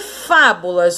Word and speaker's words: fábulas: E fábulas, ó, de trás para frente, não pode esquecer isso. Última, penúltima, antepenúltima sílaba. Então, a mais forte de fábulas é a antepenúltima sílaba.